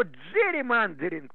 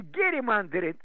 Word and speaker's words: джерримендеринг: Но джерримандеринг произносится не герримандеринг, а джерримандеринг.